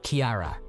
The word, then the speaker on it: Kiara: year my name is Kiara it's pronounced like Kira nly not like Sierra or Kiara my in-laws struggled with